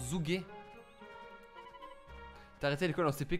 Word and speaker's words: Zhuge: Ça se prononce Zhuge.